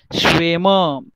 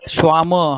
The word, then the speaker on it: Schwämme: Schwämme, not Schwamme, huh? Der Schwamm, because once you will say this is Schwamm, right? In plural form, it is umlaut E.